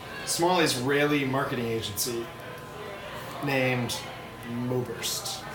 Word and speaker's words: Moburst: So my name is Oberst, and my account is Moburst, like with a U instead of an E, because it's like phonetically the same.